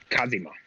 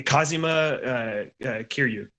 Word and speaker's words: Kazuma Kiryu: butchered that name. I got you. Hold on. The other guy is what's his Kazima. yeah, Kazuma Kiryu.